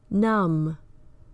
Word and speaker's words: numb: Words like crumb, numb, comb, lamb, plum. The B follows the M at the end of the word, and that indicates that it is usually silent.